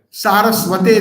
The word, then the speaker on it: Saraswati: And Srila Bhakti Siddhanta Saraswati Thakur is anybody?